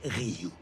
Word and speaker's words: Ryuk: Et maintenant, admire, ça se prononce Ryuk.